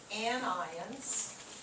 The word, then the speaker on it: anions: of thing cat ions because you want to emphasize the ions so anions cations anybody